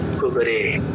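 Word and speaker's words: كبرى: juga dibaca imalah ya jadi cara membacanya nya almauta menjadi almaute taala jadi taale ihda menjadi ihde kubra menjadi kubre.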